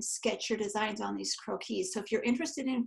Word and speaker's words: croquis: But I've got, they're called croquis, and it's a French term, so it's a funny word.